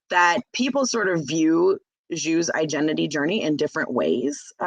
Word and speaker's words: Zhu: Zhu is the main character. Is that how you pronounce it?